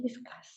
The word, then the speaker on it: discuss: The correct answer is the stress is on the second syllable design. Design. Discuss. Discuss. Discuss. පළවෙනි එක වැරදි. Discuss.